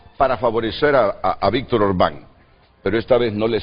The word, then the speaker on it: Orbán: Me disculpan la pronunciación primera, es Orbán, lleva acento en la no tiene un rostro